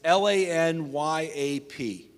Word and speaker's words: lagniappe: By the way, if you want to phonetically write this, it's Lanyap.